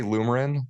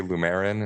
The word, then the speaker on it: Lumerin: So I say Lumerin. Some people say Lumerin and stress the E.